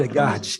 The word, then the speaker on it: Hildegard: Você pode Hildegard, pronunciar?